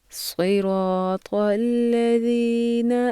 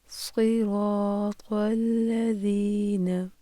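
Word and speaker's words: صِرَاطَ الَّذِينَ: صراط الذین، صراط الذین۔ پڑھنے میں تلفظ کے لحاظ سے عام طور پر 3 غلطیاں کی جاتی ہیں، جیسے صاد کو سین پڑھنا، قا کو تا اور ذال کو زا پڑھنا۔ غور کیجیے گا۔ صراط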